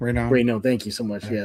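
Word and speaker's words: Raynaud: I can't pronounce his last name. Rayno.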